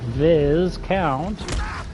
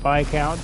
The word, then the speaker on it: Viscount: interrogation with the old Viz count. It's not how you say it, of course. You say it with Viscount, and the reason that you say it that way is because it is French.